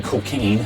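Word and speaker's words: Cokayne: the name of Brian Cocaine, and yes, that sounds like a fake name, but it's spelled C-O-K-A-Y-N-E, and he's kind of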